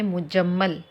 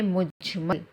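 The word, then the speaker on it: مجمل: लेकिन ये जो मुजम्मल पढ़ते हैं ना यह रॉन्ग है। प्रोनाउंस जो कर रहे हैं रॉन्ग कर रहे हैं। तलफुस इसका सही नहीं है। बल्कि पढ़ना चाहिए ईमान मुजमल। मुजम्मल नहीं मुजमल।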